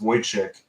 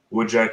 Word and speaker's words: Wojciech: It's pronounced Wojciech, the correct way, but Wojciech is what comes out most often, and Woodchuck is just fine too.